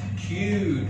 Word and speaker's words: cute: The E makes or we pronounce the vowel letter in the long vowel sound.